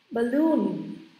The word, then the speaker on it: balloon: Trọng âm này. Balloon. Nghe thấy hai rồi đúng không?